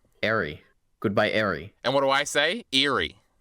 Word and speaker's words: Ari: How do you say it then? Ari.